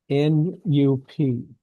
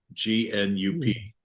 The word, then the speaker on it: Nup: It's how do you do it? N-U-P. Nup. Okay, Nup. You got to admit that's a challenging name, Gnup.